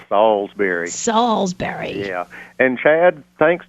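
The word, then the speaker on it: Salisbury: and the other is hearing people call it Salsberry it's not the Stak it's a town it's salsbery Salsberry yeah and Chad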